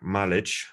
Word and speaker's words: Malec: as happens with Argentinians, his surname is originally probably from Poland. So you should probably pronounce it like Malic, but that's just my historical interest.